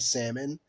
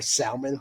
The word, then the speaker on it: salmon: like a run of salmon uh or salmon for those of you that don't uh that pronounce the hard L um but there was